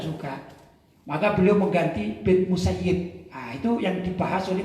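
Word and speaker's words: المسيّب: doanya sayidina Said bin musayyib maka kita bacanya bin musayyib bukan musayyab ini perlu juga ya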